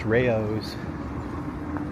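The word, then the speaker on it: Rayo's: the Rayo sauce after this that's how it's pronounced Rayos Rayos all right two more blocks and we'll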